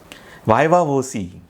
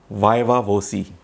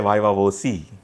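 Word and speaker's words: viva voce: लिए बुलाया जाता है वायवा वोसी वी आई वी ए वी ओ सी ई ऐसा स्पेलिंग है उसका यह एक लैटिन वर्ड है जिसका मतलब है स्पोकन एग्जामिनेशन इसका प्रोनंसिएशन जैसे कि मैंने बताया है वायवा वोसी इंटरव्यूज या जिसे कहते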